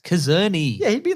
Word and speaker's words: Czerny: Mission Impossible 1 cast, because I can't spell that because you didn't say it right. It's Czerny.